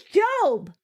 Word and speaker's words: Job: His name is Job. Have I been saying his name wrong? I've been saying Joe. His name is Job. Like the Bible job.